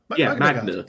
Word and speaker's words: Magna: Thank you for pronouncing their name correctly, because I have seen far too many people spell it Magma Guard, and I want to punch them in the Magna face. Guard. Magna. Yeah. Like magnet. I like these sculpts.